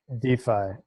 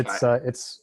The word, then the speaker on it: DeFi: DeFi. Yeah, DeFi. It's a shortening of decentralized finance, and it has the added benefit of sounding like defy, defiance, DeFi.